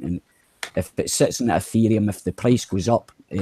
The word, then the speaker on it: Ethereum: How do you say it? Ethereum. Yeah. Just remember Ether. Yeah. Just remember the Ether.